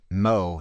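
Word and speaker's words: mho: upside-down ohm get it mo is ohm pronounced backwards not kidding look it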